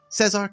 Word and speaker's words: Cezar: Cezar, Capacle, welcome, and thank you so much for coming on.